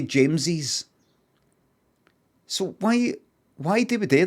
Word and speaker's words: James's: Is that just like James Cup? No, you say James's.